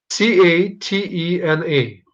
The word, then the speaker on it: catena: Well, spell it out. Catena.